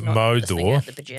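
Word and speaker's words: mōdor: Mother is the modern English equivalent of the old English Mordor, pronounced Modor.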